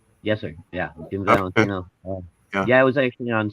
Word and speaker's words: Jim Valentino: Yeah, Jim Valentino.